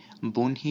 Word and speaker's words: বহ্নি: বহ্নি শব্দটিতে ৩ নং নিয়মটি প্রযোজ্য হয়েছে, এখানে ই ধ্বনি থাকায় আই বসেছে।